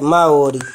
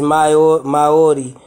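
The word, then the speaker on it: Māori: Maori. Y'all hear it? Maori. Maori. All right, Maori. So the pronunciation is Maori per the international, what is it?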